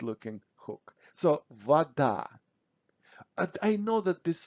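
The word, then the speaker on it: вода: russian um words so when o is not stressed we pronounce it almost always as a so we say vada but when we write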